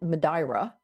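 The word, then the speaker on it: Madeira: Uh, one off of and I believe they pronounce it Madra locally, but Portuguese accent.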